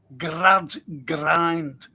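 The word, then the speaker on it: Gradgrind: Then you've got Grad Grind who's the uh headmaster. Grad Grind. And that's how you pronounce his name, Grad Grind.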